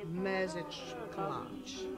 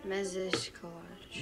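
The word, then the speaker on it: mézeskalács: message clutch. Repeat after me. Message clutch. Message clutch. No. Message clutch. You have to be longer on the message clutch.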